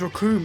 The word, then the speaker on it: Recoome: can see now why his name's raccoon and it rhymes with doom and you're going to